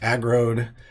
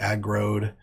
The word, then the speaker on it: aggroed: is my name aggro'd it's pronounced agroed rhymes with road like I rode a boat it's a growed this is the the